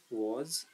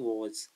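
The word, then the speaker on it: was: ये सब वाज नहीं पढ़ना है, बहुत से बच्चे सब बोलते कुछ और ही है, बोलने का कुछ, तो अपने प्रोनाउंसिएशन पर थोड़ा ध्यान देना, इसे बोलेंगे वॉज, वॉज।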